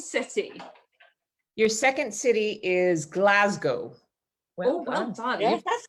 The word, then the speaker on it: Glasgow: Your second city is Glasgow.